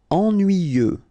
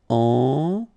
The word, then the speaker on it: Ennuyeux: Ennuyeux. Okay, final X not pronounced, and then the same concept. Ennuyeux.